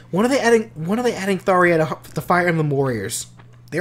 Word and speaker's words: Tharja: Okay, but her name is technically pronounced Tharia. Okay. Yeah, like if you play Tokyo Mirage Sessions, like that is actually how her name is pronounced.